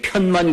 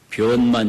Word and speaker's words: 변만: 편자인데 불교에서 변으로 읽거든요. 보편이라는 편자거든요. 그게 편만 그러면 안 돼요. 변만 이래야 돼요.